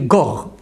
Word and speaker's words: Gore: Et c'est intéressant qu'au niveau de la bonne prononciation juive, un guimel avec le dagesh, avec le point tonique, c'est G, mais sans c'est R. Donc tu dis Gore.